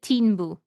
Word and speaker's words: Tinbu: So Delila, she her and um the other the main So she pronounced it Tinbu. Tinbu.